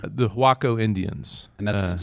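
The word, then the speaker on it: Huaco: about how does Waco get its name the hako Indians and that's spelled interestingly right yeah h u a o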